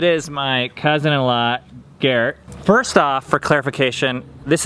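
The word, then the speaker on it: Gerd: off for clarification this is not Garrett like you guys have seen that it's Garrett but it's German and in German the D sounds like a t and it's one syllable Garrett what is your first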